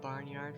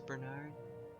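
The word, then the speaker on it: Barnard: to the Barnyard star I always pronounce that barnyard for some reason and I know it's Bernard oh is this a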